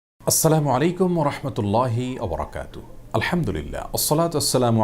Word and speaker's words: আসসালামু আলাইকুম: উচ্চারণে সালাম দিয়ে বলেছিলেন আসসালামু আলাইকুম যার কারণে আসসালামু আলাইকুম ওয়ারাহমাতুল্লাহি ওয়াবারাকাতুহু এভাবে বিশুদ্ধ উচ্চারণ আমাদেরকে সালাম দিতে হবে তাছাড়া আসসালাম এটি